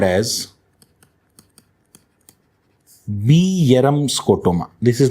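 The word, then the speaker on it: Bjerrum: we call as RQ scotoma also called as bam scotoma this is not geram guys this is pronounced as Bam Bam Bam scota okay now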